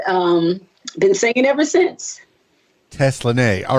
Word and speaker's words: Teslanay: was five and um been singing ever since Tesla nay all right well tell me about the name Tesla nay is that the god-given name is that the